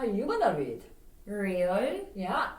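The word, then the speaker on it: 리을: But as we know, in Korean, there's not an R sound. It just how you pronounce the Lieul, depending on where it is in the word, is going to change how you form your mouth to make the sound. But still, there is no R in the Korean alphabet.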